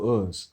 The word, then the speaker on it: Uz: There was also an ancient city in the land of Edom called Uz, U-Z. That's how you spell it.